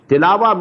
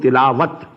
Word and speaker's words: tilawa: Tilawa means to recite, which we call in Urdu tilawat. In Arabic we have to pronounce it as tilawa.